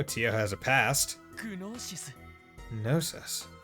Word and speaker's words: Gnosis: グノーシス Gnosis. I'm not pronouncing the G. They're saying gnosis, but I'm going to pronounce it as though I'm just saying gnome.